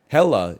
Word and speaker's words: Hekla: It's pronounced Hella, even though it's spelled Hekla.